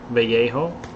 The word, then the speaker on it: Vallejo: for it mecca primer by vallejo or vallejo it's spanish my brother speaks spanish so he's the one that told me how to say it but yeah it's it's